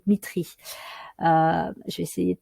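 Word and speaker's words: Dmitri: sur le chimiste russe Dimitri alors c'est plutôt Mitry je vais essayer de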